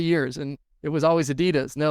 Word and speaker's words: Adidas: Then it was owned by Salomon, and then it was owned by Adidas, or Adidas is the proper way to say it.